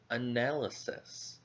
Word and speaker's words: analysis: Analysis has 4 syllables. A-nal-I-sis. Analysis. Now, where do you think the stress goes for this word? The stress goes on the second syllable, nail. So this syllable will be a little bit higher in volume.